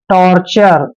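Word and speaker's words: torture: टर लिख और टी य आर ई का उच्चारण हम चर करते हैं टॉर्चर आप ऐसे भी लिख सकते हैं इसको टॉर्चर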